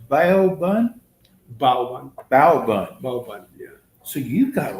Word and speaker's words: bao bun: it pronounced bao bun? Baoban, Bao bun. Baoban, yeah.